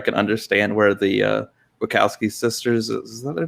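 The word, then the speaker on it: Wachowski: understand where the uh buckowski sisters is their name i i don't know their first names anymore um but yeah it's the wakowski sisters i believe it's pronounced um so i think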